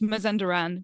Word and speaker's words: Mazandaran: one place to another um yes it is pronounced mazanderan but anything goes don't worry too much about